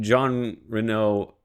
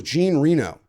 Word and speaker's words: Jean Reno: I I feel like John Renault in that movie is trying to Is that how you say his name? I thought it was Jean Reno.